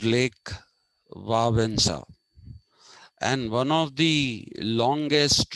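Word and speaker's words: Lech Wałęsa: solidarity party uh his name is actually not pronounced lake walesa it is pronounced it's pronounced lake vavanza and one of the longest reigning popes pope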